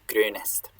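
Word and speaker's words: grēnest: It's A, but then you make your lips round, so U. So this is grönest.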